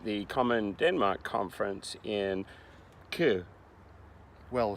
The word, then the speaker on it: Køge: It's spelt K with an O and a slash and a G-E, but you don't say all of those letters, so it's quite fun.